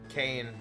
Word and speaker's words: Kane: Well, no, actually it's spelled K-A-N-E, but in this battle, it is like the wrestler.